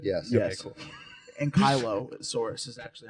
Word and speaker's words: ankylosaurus: ankylosaurus right now. You guys know what that is, right? Yes. Yes. Okay, cool. And Kylosaurus is actually how you pronounce it.